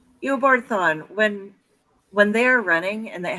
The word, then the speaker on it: Eobard Thawne: And the when he and how do you pronounce his opposite's name? I'm gonna butcher it. Dr. Zoom or whatever. Yeah. Eobard Thawne. Eobard Thawne.